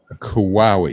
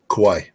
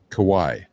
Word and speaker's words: Kauai: did they did yesterday they said kawawi is that how to pronounce it Kauai Kauai yeah the Pacific Ocean is